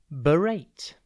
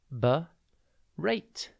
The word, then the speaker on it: berate: TV today's word is berate it is pronounced B rate and it is spelled b e r a t e think B and then rate berate means to scold